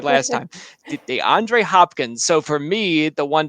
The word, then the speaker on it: DeAndre Hopkins: DeAndre Hopkins.